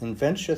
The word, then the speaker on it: Inventia: Inventia sounds like dementia, only it's a condition where you can't stop inventing.